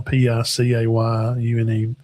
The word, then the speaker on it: Picayune: Picayune. It's not what you think.